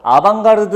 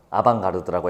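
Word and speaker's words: avant-garde: 사람들은 다 알 거예요 아방가르드 우리 같이 공부했던 거 기억나세요 그때 빠진 사람 다시 들어요 다른 질문이랑 또 연결이 되어 있어 어드밴스드 가드를 프랑스어로 읽으면 아방가르드라고 읽습니다 여러분들이 TV 볼 때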